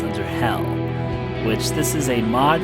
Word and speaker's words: Underhell: Underhell, not Undertale, not Underhale, it's Underhell.